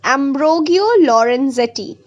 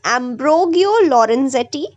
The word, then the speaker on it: Ambrogio Lorenzetti: Okay, his name is pronounced as Giuliano Bartoli. The next is Ambrogio Lorenzetti.